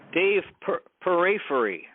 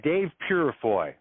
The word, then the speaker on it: Purifoy: weight room together too Dave periphery Dave burafoy uh now how do you say that name yep that's uh Dave Purifoy Now Dave unfortunately is